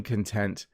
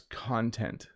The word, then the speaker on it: content: Now, this word has a number of pronunciations, right? You can say that you are feeling content, but this YouTube channel has content. Same spelling, slightly different pronunciations.